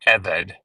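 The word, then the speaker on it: עבד: But you always pronounce the first, you always put the accent on the first syllable, not the second. So like melech or eved, you remember eved for slave?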